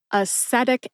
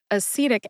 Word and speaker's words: acetic: I will move on she says atic acid instead of acetic acid acetal salicyclic acid I believe that's how she said it instead of acetal salicylic acid which is aspirin so common and instead of